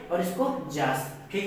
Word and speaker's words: Yaas: ठीक है, इसको जास प्रोनाउंसिएट करते हैं।